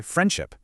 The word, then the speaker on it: friendship: There's a D written right there. But when was the last time you actually heard someone pronounce it? friendship. Pretty much never. We all just say friendship. The D sound vanishes just to make the word flow a little better.